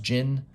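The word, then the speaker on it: Djinn: number one gin hunter i think it's pronounced gin the d is silent um i guess jinns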